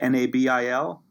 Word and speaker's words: Nabil: I'll mention your name which is Nebel is that how you pronounce it NAB il yes the bill al Haiti